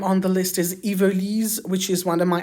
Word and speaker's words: Yvelise: And the third name on the list is Yvelise, which is one of my absolute favorites. In English, it would be pronounced something like Yvelise, but it's spelled Yvelise, and it's like a portmanteau of Yvette and Lise, Yvelise, and it's a fairly contemporary name.